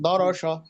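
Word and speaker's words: درس: দরস, সা হয়ে যাচ্ছে, সা হবে না, সা। দাঁড়া সা। দরস, সা হয়ে যাচ্ছে, সিনের উচ্চারণ করতে হবে। সা সা সা।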